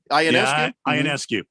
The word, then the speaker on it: Ionescu: Ionescu. Yeah. That's how you say it? That is how you say it. Ooh, I said it right.